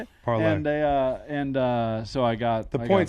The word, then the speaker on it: parlay: Yeah, push, but it was part of a parla. Yeah. How do you say it? Parlay.